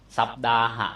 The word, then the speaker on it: สัปดาห์: ว่า วัน เช่น สัปดา สัปดาห เี่ มั้ย บาลี เขียน ว่า สัตตาหะ ภาษา สังกิจ เขียน ว่า สัปดาห ภาษา ไทย อ่าน ว่า สัปดา มา จาก อหะ ตัว